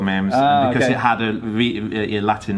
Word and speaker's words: Myrmes: It's supposed to be pronounced Myrmes, or something like that, with a sort of slightly French accent. But a lot of people just say Myrmes or something, don't they?